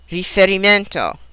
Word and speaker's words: riferimento: A five-syllable word on the fourth syllable, riferimento, and so on.